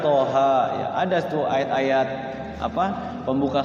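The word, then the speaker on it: طه: Padahal dibacanya nun, sod dibacanya sod, qaf dibacanya qaf, toha dibacanya toha ya.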